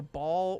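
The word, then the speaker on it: Baal: like with little lorry so ball or bale depending on how you want to pronounce his name my guess will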